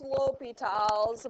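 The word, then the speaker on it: L'Hôpital's: okay so it's pronounced l'hopital's but it's spelled l in an apostrophe hospitals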